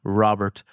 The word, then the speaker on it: Robert: directly from America so she has never pronounced my name with a Spanish accent so okay see I here I feel set up just a little and no so it's not Roberto Robert Robert Robert Robert there